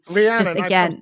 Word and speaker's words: Rhiannon: The other thing I'd say is that Rhiannon, the song, also has a real like nostalgia to it for me.